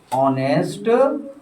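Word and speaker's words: honest: ये साइलेंट होता है, ये जो लेटर है ना ये आपका एच, ये साइलेंट होता है, यहाँ से उच्चारण शुरू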